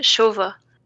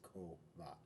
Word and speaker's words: Kova: With ch, Shova. Shova. Yeah, I did that, and if you look at the actual pronunciation now of it in the on next to its name, it says Kova. Because originally I had CHO, which is the appropriate IPA spelling of co, but no one was doing it.